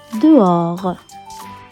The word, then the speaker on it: dehors: Le mot 3 est bien dehors, qui veut dire à l'extérieur, et c'est un mot qui se prononce en 2 syllabes. De comme dans demain et or.